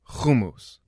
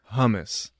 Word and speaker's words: hummus: how to pronounce it in Israel in Hebrew you say homos in the States it got translated to hummus and then you start to realize that hummus just sounds wrong and then once you